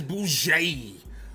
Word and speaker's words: bougie: You gotta pronounce the last part of it out. You gotta stretch it out. It's bougie.